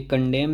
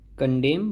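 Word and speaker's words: condemn: ये फिर से देखिए, इसमें एन साइलेंट है, तो ये कंडेम नहीं कंडेम बोला जाएगा, इसे निंदा करना।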